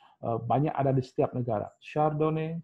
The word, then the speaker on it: Chardonnay: Satu Chardonnay yang paling terkenal, bukan Chardonnay, Chardonnay bacanya, ya.